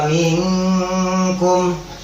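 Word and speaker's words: منكم: Jadi dari kasrohnya langsung masuk kepada nun mati.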